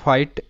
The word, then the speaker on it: fight: তো এটার উচ্চারণটা হচ্ছে ফাইট, এবং কিভাবে এই শব্দগুলোর উচ্চারণ হয় সেটাই আমি বলবো। তো আমরা জানি এফ তে ফ সাউন্ড হয়, ফ। আর IGHT এটা কিন্তু একটা প্যাটার্ন, IGHT এর উচ্চারণটা হবে আইট।